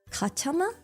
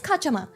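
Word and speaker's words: cachama: I think they're pronounced. Katama. Katama. C A C H A M A. I'm not very good with like how to pronounce. Maybe I should have looked this up before. I'm like kacha kacha. Oh, it's kachama.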